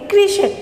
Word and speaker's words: कृषक: कृषक, है ना। तो जो री की मात्रा है रहती है वो वर्ण के नीचे इस तरह से लगती है ना, तो उसका उच्चारण भी हम क्या कहते हैं? री।